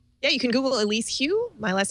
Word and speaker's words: Hu: just Google it yeah you can Google Elise Hugh my last name is spelled hu there it's right on the screen